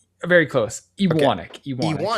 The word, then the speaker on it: Ewanek: thanks so much for and did I get your Did I pronounce your last name right? Very close. Ianic.